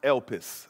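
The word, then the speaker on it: ἐλπίς: you hearing me now hope in the greek is pronounced elpis or el pis i tried my best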